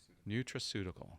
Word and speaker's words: nutraceutical: How do you pronounce it? Nutraceutical? Nutraceutical.